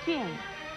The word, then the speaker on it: 卷: 卷字的国语读音是卷，四声卷，鸡卷卷，四声卷。